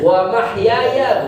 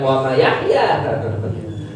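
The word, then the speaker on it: وَمَحْيَايَ: Ya, mungkin antum pernah dengar ada orang bacanya wa ma yahya, wa ma yahya, dan tidaklah si Yahya. Harusnya wa mahyaya, bukan wa ma yahya.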